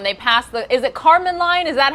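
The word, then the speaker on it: Kármán line: hear them when they pass the is it Carmen line is that how you say it yeah yeah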